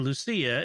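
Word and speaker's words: Lúcia: As a Portuguese person, I just wanted to let you know that the C in Lucia is pronounced as an S, like Lucy in English, not as ch or ch.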